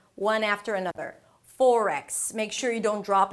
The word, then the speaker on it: forex: Forex. Make sure you don't drop any sounds at the end so it doesn't end up sounding like 'fork', that's a different word.